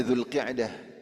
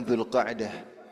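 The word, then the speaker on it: Zulqa'dah: Jadi yang benar sebenarnya Zulqi'dah tapi boleh pengucapan Zulkaah. Karena Zulqi'adah itu dari kata qa'ada yaqu'udu ya duduk.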